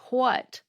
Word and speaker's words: what: pronounce the word "what" like it has an H at the beginning, like "hwhat."